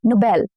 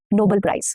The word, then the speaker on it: Nobel: And same goes for Nobel, not Nobel Prize.